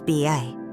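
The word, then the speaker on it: 八: the luckiest of all the pronunciation of seu 8 in ba closely resembles the word for prosper fa which is why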